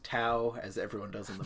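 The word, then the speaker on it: Tao: t a o so obviously it's spell it's pronounced tau as everyone does in the movie yep the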